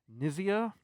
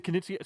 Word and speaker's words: Knizia: Rainer Nizia. Basically, you have a It's not Reiner Reiner Knizia? Knizia? Knizia.